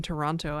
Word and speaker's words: Toronto: I do pronounce the second T in Toronto after all.